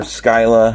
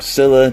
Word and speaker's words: Scylla: I mean, it's pretty much the same, I guess, if you pronounce the SC as like just simple S or the SC kind of like SK like in sky and like SKY, but it's SCY.